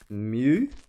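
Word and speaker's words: μ: in our table so it's a Greek letter and we pronounce that as Mew so it's a lowercase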